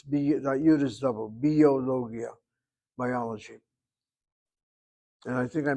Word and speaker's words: ביולוגיה: How many syllables? Bio is B. B is one syllable. Yo is the second. Lo is the third, Gi is the fourth, and Ya is 5. 5 syllables to biologia.